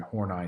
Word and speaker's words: Horney: name's karen karen hornai it's pronounced horney i had to look that up um uh